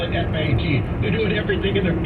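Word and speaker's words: Pfaadt: That's a lot of letters in there, but the PF sound usually comes to an F, right? Two A's is an A, and DT, the D is usually silent. I claim his name is Fat. He probably pronounced it Fat or something.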